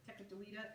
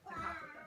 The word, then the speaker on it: Tekakwitha: That's, you may not know that's how you pronounce it. Tekakwitha is how some people say it. It's the saint, the American saint. It's a Native American. So this is the 21 Tara meeting Tekakwitha, or Tekakwitha, is actually how you say it.